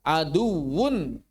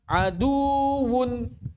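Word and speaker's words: عدو: Contohnya kata aduwun bukan dibaca aduun. Aduun mestinya aduwunum mubin.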